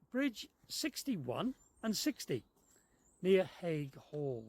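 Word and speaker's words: Haigh Hall: We're moored up between Bridge 61 and 60, near Hague Hall. That's how we say it, but the locals say Ayall or Hayall or something like that.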